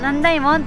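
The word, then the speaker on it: 남대문: So called Namdaemun, it is pronounced Nandaemun.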